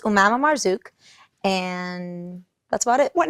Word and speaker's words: Marzuq: we met cool um so it's pronounced malamar Zook and that's about it